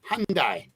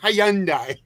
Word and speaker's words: Hyundai: it hyand Lori it's the why is silent it's Hundai Hyundai Hyundai whatever but it's not Hyandai Hyandai that's a that's